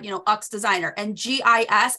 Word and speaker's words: GIS: know uck's designer and GIS I was pronouncing yes okay like I was like oh yeah I'm working guess not girl it's g-i-s like who are you